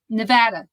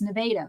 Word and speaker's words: Nevada: They keep saying Nevada. And it's like, no, it's Nevada. Nevada.